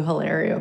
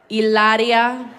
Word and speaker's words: Hilaria: you guys know who Hilaria Baldwin is I'm saying it wrong I'm sorry ilaria Baldwin okay so I just